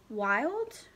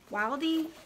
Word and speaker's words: Wilde: Oscar Wilde? Wildy? That E is silent.